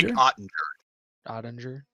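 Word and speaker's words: Jake Oettinger: Yeah, I need you to pronounce the goalie's name. Jake Ottinger? Jake Ottinger.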